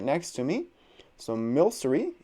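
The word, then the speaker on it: Milcery: next to me so mil sorry is how you pronounce it this would be a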